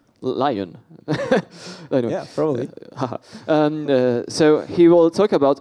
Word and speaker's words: Lyon: comes from the sunny Leone in southern France where in Leon Leon I mean how do you say the only English in English I say Lyon so he will talk